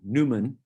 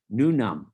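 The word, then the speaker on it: Newnham: and when we went the british proclivity to ignore a lot of the letters it's called newman uh yeah no new num new num that's the proper way to pronounce it nunem i'll show you a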